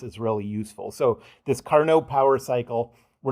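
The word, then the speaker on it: Carnot: And by the way, it's pronounced carno like a French guy. Um but uh it's a very famous power cycle. Um, I said that so a carno power cycle is one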